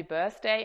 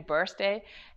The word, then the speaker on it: Birthday: Okay, to be fair, Germans usually sing happy birthday instead of happy birthday, as the TH is a bit difficult for Germans to pronounce correctly.